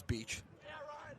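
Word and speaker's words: Beches: So we'll see Mason Beach in there. I think it's Beach. Last name spelled B-E-C-H-E-S. When I looked it up, everything said it's pronounced like beach.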